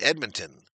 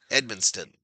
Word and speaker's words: Edmonton: I shook my head last night when a local TV sports caster wearing a bow tie mispronounced Edmonton. Something like Edmonston.